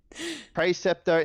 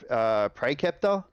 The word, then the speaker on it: Praeceptor: Praeceptor instead of Praeceptor. Stuff like that. It's. Are you 100% sure it's a hard C on that one? Pretty sure.